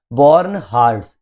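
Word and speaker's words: bornhardts: बोर्न हार्ट्स spelling है बी ओ आर एन एच ए आर डी एस।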